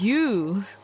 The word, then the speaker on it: ewe: It's pronounced you.